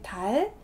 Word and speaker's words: dal segno: 달세뇨 이렇게 하시는 분도 있고 진짜 정확하게 달세뇨 이렇게 적어주시는 분도 있고 이탈리아 발음에서 GN 같이 나오면 요 이렇게 발음하시는 거 들어보신 분들도 있을 거예요.